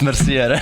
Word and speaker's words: Mercier: No, it's actually Merci. You know. Hey, I know this guy in person, so it's Mercier.